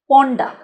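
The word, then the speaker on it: ponder: ইডি সেক্ষেত্রে হবে পন্ডান আর কিন্তু একটু কম উচ্চারণ করতে হবে পন্ডা তাহলে কিরকম বাক্য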